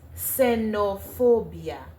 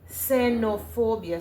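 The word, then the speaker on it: xenofobia: It is pronounced with a S. Senopobia. Senopobia.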